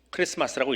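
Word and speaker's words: Xmas: 무식하다라고도 할 수 있습니다 x자처럼 생겼는데 x가 아니에요 저 헬라어입니다 헬라어의 제일 첫 번째 글자인데 어떤 걸 타면 크리스토스라고 하는 말이에요 큰 차 발음이 나는 헬라어입니다 기억 발음이 나는 거예요 근데 뒤에는 영어고 앞에는 헬라어입니다 그러니까 묘하게 조합을 시켜 버리는 거예요 그래서 선택 엑스맨에서 합니다 근데 정확하게 알고 나면 xm 어떻게 읽어야 된다고요 크리스마스라고 읽어야 되는 거예요 근데 길게 쓰고 싶지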